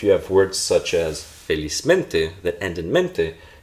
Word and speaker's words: felizmente: So felizmente, stress is in feliz.